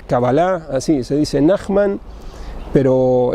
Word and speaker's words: Kabbalah: Nachman se dice, o Nachman en español se acentúan como Cábala y Kabbalah en la primera sílaba o en la última. En español es Cábala, en hebreo es Kabbalah, así se dice Nachman, pero en hebreo se diría Nachman.